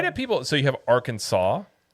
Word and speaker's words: Arkansas: in front of it, but yet you pronounce it different. Why isn't it R Kansas?